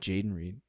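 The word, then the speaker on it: Jayden Reed: I say his name right is is it Jaden Reed Yeah Yeah from Green Bay I would take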